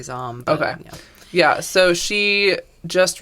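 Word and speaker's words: Zahm: um and so maddie zom zame i'm really bad at pronouncing spell it z-a-h-m zom i'd say zom okay yeah so she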